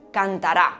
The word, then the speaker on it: cantará: Por ejemplo, existía cántara, cantara y cantará. Pues para la que tenía la fuerza en la última sílaba, propuso usar el circunflejo. Para las que tenían la fuerza en la penúltima sílaba, marcarla con el acento agudo, y las que la tenían en la antepenúltima sílaba, también con el acento